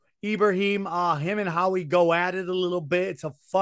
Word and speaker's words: Ibrahim: How do you pronounce his last name? Ibrahim. Ibrahim, him and Howie go at it a little bit.